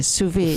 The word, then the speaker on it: sous vide: Could you do me a favor and spell that honestly, sous vide? Sous vide, SOUS space VIDE. It's a French term, not an American word.